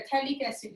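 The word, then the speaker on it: phthalic acid: P और H यहाँ पे साइलेंट है, थैलिक एसिड है।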